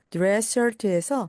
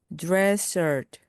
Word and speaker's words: dress shirt: dress shirt, dress shirt입니다. 그리고 dress에서 S, 또한 shirt에서 S가 겹치기 때문에 앞에 있는 S는 발음하지 않습니다.